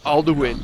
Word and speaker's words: Alduin: to attempt to defeat like everybody says aln but you know all the Americans that I know call him alowin cuz that's what it looks like it says but people in the game pronounce it Al speak no I will